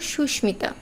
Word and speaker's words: সুস্মিতা: আমাদের শেষ শব্দটা ছিল সুস্মিতা এই সুস্মিতাতে কিন্তু ম এর উচ্চারণ ম এর মতোই হয়েছে আসলে সুস্মিতা একটি সংস্কৃত